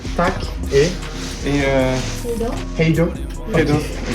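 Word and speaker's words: tack: Tac. Yeah. Tac. Ok, good. Hey, tac et Et Hello.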